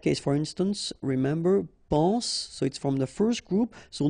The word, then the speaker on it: soit: Okay, then of course être and avoir, so être will become soit, remember final S is not pronounced, soit, then soyons, soyez, all right, soit, soyons, soyez.